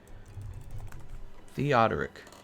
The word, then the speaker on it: Theodoric: Eric, did you know that the name Eric comes from the name, how do you pronounce it? Is it Theodric or is it Theodoric? Let me look it up again. Theodoric.